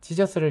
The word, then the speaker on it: Jesus: 그래서 이제 지저스를 예수로 발음을 하지만 이제 영어 발음은 여러분도 알다시피 지저스죠.